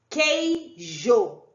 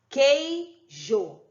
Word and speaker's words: queijo: exemplo aqui ó o queijo ver se você escuta o sandro amanhã pedir de novo queijo o som do u não é pronunciado a mesma coisa com